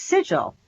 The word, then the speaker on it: sigil: It's sigil, right?